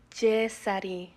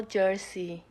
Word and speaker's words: Jessery: Oh, it's Jessery, no Jersey.